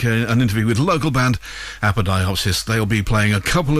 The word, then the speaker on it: Apodyopsis: They've corrected my pronunciation already. They say it's Apodyopsis, so there we go. I'm going with that pronunciation.